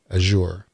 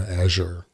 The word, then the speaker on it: Azure: So what he said is, what we're doing in Wrecking Zone is we're running Havoc in Azure, or Azure, depending on who you are and how you say it.